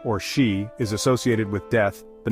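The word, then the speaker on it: 四: While the number 4, or shi, is associated with death, the number 9, or ku, is also avoided because it sounds like the word for suffering or pain.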